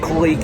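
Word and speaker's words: Kalik: Guys, if y'all drink beer, if y'all drink beer, that kic it looks like it's pronounced kaik, but they pronounce it kik here.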